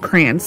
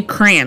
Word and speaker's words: crayon: pronounce the word cran my kids and I all say cran like you know like cranberry like C an but my husband pronounced it like the correct way the crayon crayon I I can't even